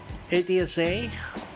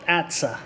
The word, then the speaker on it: ATSA: that every day and how do you pronounce it sounds like bad sir it's sure i'll call it atsa i did not buy